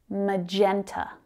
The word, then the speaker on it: magenta: Magenta, magenta. So we've got three syllables there. Can you hear where the strongest stress is? Magenta, magenta. It's on that second syllable.